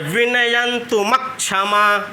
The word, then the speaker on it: विनयन्तुमक्षमा: यहाँ जोर दे के पढ़ना है विनयन्तुमक्षमा, तब आपका शुद्ध उच्चारण होगा। आगे संयुक्त अक्षर है, यहाँ हम जोर देंगे म पे, ठीक। तो विनयन्तुमक ऐसे यहाँ रुक जाएंगे, विनयन्तुमक क्षमा ना।